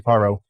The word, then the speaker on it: Caro: Yeah, you can find me on Instagram at, C-A-R-O, and on Facebook, Caro.